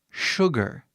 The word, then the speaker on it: sugar: estranha, até para americanos, porque o som que você pronuncia aqui no início, esse S, não é som de S. É esquisito. Eu não sei porquê. Mas nós falamos sh, né? Igual de chave, som de chave, né?